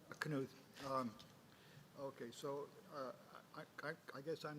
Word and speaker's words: Knuth: Do I pronounce it correctly? Knuth.